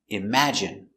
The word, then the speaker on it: imagine: im a im J J strong sound J imag I imag imagine imagine stress on the second syllable imagine imagine imagine imagine